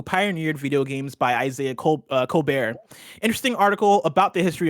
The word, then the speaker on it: Colbert: Again, the article is called Uncovering the Real History of the Women Who Pioneered Video Games by Isaiah Colbert. Or Colbert. I'm pronouncing it the Stephen Colbert way.